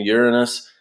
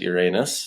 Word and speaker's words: Uranus: the TV show Psych, I've heard it both ways. All right, I prefer to pronounce it Uranus. That way, I don't sound too uppity like Uranus. Right. So I will call it Uranus.